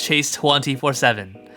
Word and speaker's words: Chase 24/7: to be pronounced as Chase 247 like 24 hours a day 7 days a week now if you want